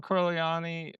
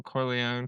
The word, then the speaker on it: Corleone: Uh, Michael Corleani or I forget how to say it from the Godfather. Corone Corleó. Michael Corleone from The Godfather.